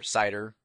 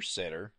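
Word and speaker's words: CIDR: inter domain routing or CER or sitter or cedar or however you want to pronounce it now what is this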